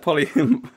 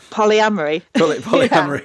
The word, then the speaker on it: polyamory: It does make sense, and I have not, especially the how do you pronounce that? Polyamory. Polyamory.